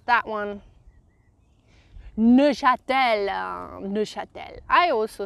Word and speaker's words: Neuchâtel: How would you pronounce that one? Neuchâtel, Neuchâtel.